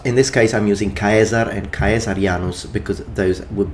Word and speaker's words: Caesar: although please note that the pronunciation that I'm using now is classical Latin if you wish to use or you're more used or familiar with ecclesiastical Latin then these would be pronounced chesar and chesar chesar sorry